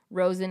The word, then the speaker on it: Rozen: Rozen is spelled like frozen without the F, so ROZEN.